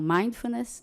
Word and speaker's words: Mindfulness: é a primeira, que é uma palavra grande. Então, Mindfulness, né? E Mindfulness é uma prática baseada em meditação. Mindfulness não é meditação, é uma prática baseada em meditação, né? Eu conheci Mindfulness no ano de 2008,